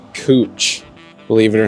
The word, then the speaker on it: Couch: going through Portland pronounced cooch believe it or not it looks like it says couch you might think it says couch but it's cooch and then there's a